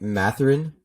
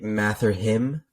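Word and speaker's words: Mathurin: two I got Benedict mathrin um Arizona man Benedict oh sorry I spelled it I said his name wrong it's Benedict math or him um 17 points a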